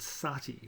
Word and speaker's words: sati: important, relates to the practice called sati, or sometimes otherwise pronounced and spelt sati by the British.